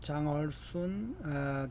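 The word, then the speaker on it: 江尔逊: 벌써 또 일주일이 돼가지고 이번 주에는요 상한명이 강이손, 우리 발음으로는 강이손이라고 하고요. 중국 발음으로 하면 장얼순 교수님의 나의 중이 50년.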